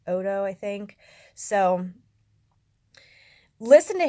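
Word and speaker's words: Oddo: right here on YouTube the last name is spelled OD do I thought it was Otto first but it's odo I think so listen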